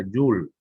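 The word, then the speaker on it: joule: la unidad de medidas se pronuncia llull se escribe soul es es el apellido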